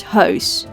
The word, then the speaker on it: huis: finally we have o as in the word house which means house in Dutch house again no